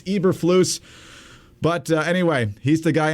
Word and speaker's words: Eberflus: I assumed it was Eberflus. It's not. It's Eberflus.